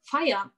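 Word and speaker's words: Feier: in the german and there's a word that is pronounced exactly the same which is the word fire which means party or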